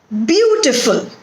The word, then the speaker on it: beautiful: Beautiful. 3 syllables are there in this word, and the stress is on the first syllable, that is beau. Beautiful, and it is to be pronounced as beautiful.